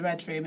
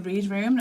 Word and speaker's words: Readroom: which I'm proud of, but also so many people pronounce it as the read room and I'm like maybe